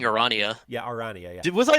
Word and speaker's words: Aranea: It's Aranea, right? It is Aranea.